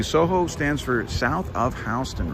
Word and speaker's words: Houston: it house tune and it actually had another you in the writing it was houston h-o-u-s-t-o-u-n over time the spelling warped into houston but they still pronounced it houston oh my god tom